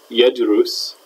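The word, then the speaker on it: يَدْرُسُ: But in wazan 1, darasa is pronounced darasa in the past, yedrus in the present, notice the u sound there, and the fatha in the past, and edirasa.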